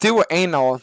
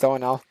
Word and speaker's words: Doaenel: Is Doaenel pronounced Doaenel? No, it's not. It's pronounced Doaenel. Believe it or not, it has nothing to do with anal.